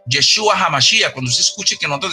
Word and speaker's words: Yeshua HaMashiach: Jesucristo en hebreo se pronuncia Yeshua HaMashiach.